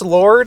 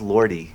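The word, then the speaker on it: Lorde: So is it really pronounced Lord? I think so. I don't know. I don't really listen. No. You're right, Jay. It's pronounced Lordy. That's what I thought.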